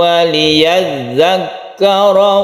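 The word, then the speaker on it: وليذكر: Ketika huruf itu bertasydid, kita harus tegas sehingga tasydidnya itu terdengar. Waliyadzakkara. Jadi tabrakan ke kaf ini jangan ragu-ragu.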